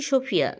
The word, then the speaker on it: Sofija: তবে হ্যাঁ, এটি কেবল সোফিয়া। ও, কিভাবে আপনি উচ্চারণ করেন? এটা সোফিয়া? হ্যাঁ, আক্ষরিক অর্থেই সোফিয়া। যেটা ঠিক যেমন The J is a H or something, yeah?